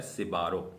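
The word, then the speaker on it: Sbarro: तो इसको जो प्रोनाउंस किया जाता है वो प्रोनाउंस किया जाता है सिबारो।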